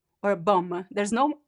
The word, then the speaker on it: bom: There's no m sound in the word bom.